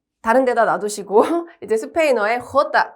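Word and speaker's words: jota: 호다. 한 번 더 읽어볼까요? 호다. 그렇죠. 얘도 지난 시간에 배웠던 해와 마찬가지로 목을 긁는 히읗 소리예요. 호다.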